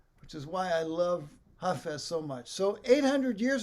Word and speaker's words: Hafez: have heard of roomies contemporary hafez hafez or hafiz is sometimes pronounced if you don't know